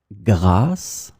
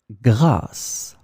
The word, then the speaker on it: grâce: In this lesson, we will discover together two words that are written differently but pronounced the same way. Grâce, grâce.